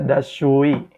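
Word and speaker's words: دستشویی: Toilet bahasa Persianya adalah das shu'i. Dibacanya dashui, dashui.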